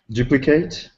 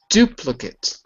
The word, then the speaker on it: duplicate: It looks like an A, but it's pronounced as an I.